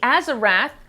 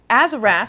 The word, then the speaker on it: Azarath: It's not Azarath. We've been saying it wrong for like 5 episodes.